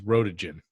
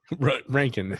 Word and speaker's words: Röntgen: And for a long time, I thought it was rotogen. Yeah. Rankin. His name is spelled like rotogen.